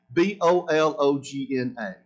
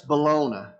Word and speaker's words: bologna: if you're taking notes i'll spell it b-o-l-o-g-n-a now i know that's bologna but we call it bologna in the south okay the bible does